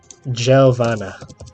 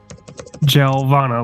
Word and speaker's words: Giovanna: that one more time Giovanna Giovanna like javelin uh like a gel it's in